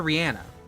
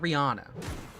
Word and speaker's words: Rihanna: Who does pronounce it Rihanna. Not Rihanna.